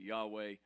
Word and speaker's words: Yahweh: Many people pronounce it Yahweh.